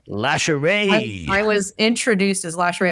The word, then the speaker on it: Lashae: I've gotten everything. There's additional letters people throw in there. I've gotten Lashae. I'm there's definitely not an R. Lashae.